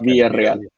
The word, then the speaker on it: Villarreal: That's not how you spell it, though, right? Villarreal. I think he just capitalized the second R, but it's Villarreal.